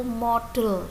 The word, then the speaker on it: modal: Perlu diketahui sebelum kita membahas lebih jauh tentang should, ya, should itu termasuk salah satu model dalam bahasa Inggris. Model, ya, model tulisannya modal, ya, modal tulisannya begitu tapi bacanya model.